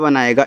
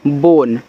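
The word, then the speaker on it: bone: बी ओ एन ई बोन तो बी से ब ओ से ओ की मात्रा एन से आपका ना लास्ट वाले इ का उच्चारण होगा नहीं तो बोन हो गया ए एल एस ओ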